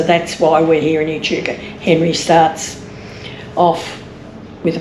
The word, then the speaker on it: Echuca: It's, and you say it like you're having a little sneeze. Echuca.